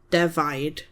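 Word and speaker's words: defaid: D E F A I D devi.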